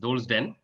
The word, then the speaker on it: Dhole's Den: That was rightly pronounced. Dhole's Den. It's named after the Indian wild dog.